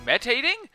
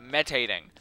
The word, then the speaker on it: meditating: Is he meditating? Just so you know, the word is meditating, not metating.